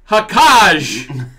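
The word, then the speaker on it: Xhekaj: murder this one Arbor hakaj the x is silent out of 199 Claude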